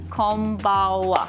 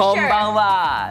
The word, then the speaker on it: konbanwa: Konbawa. Oh, wow. You know plenty. I know. You don't need lesson. No, I know. need a refresher. Konbanwa.